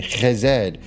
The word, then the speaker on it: Chesed: When you work with Jupiter and Chesed in the magical context, and yes, that's how it's pronounced.